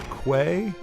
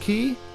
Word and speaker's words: quay: y is actually pronounced key. It's like in Donkey Kong there was like it was like called like something quay but it's actually pronounced key but nice.